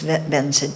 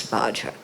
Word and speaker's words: Vajra: I started out with Benza too, because that's how Tibetans pronounce Vajra.